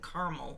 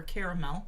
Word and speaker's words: caramel: It says mellow spice, rich fruit, hints of sweet oak and caramel, or caramel, as Doug calls it. My middle A is silent and caramel.